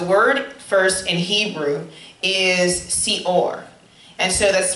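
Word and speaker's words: שאור: The word first in Hebrew is seor. And so that's spelled sin, aleph, vav, resh.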